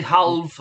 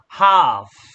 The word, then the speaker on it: half: remember the L is silent we don't pronounce that okay we don't say half no it's half and then you join